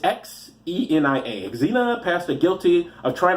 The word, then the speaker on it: Xenia: Xena, it's Xenia.